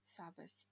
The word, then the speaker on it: sabes: Получается sabes, да? Sabes. Ударение на предпоследний слог, поскольку слово оканчивается на s.